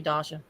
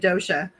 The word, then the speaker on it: Dasha: Yeah, there's no telling what he'd call you, Dasha. I said Dasha's name wrong for like 2 years. Oh my God. I said she it never right. corrected me. I always said Dosha.